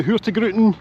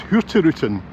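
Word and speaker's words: Hurtigruten: The higrutin. Although I think someone told me it's pronounced hirutin. You don't say that hard G as I do.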